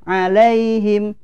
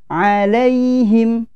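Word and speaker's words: إليهم: Iya sukun di sini tidak boleh alaihim tidak boleh ya wuih bunyinya ilaihim ya ilaihim selanjutnya mahal ausri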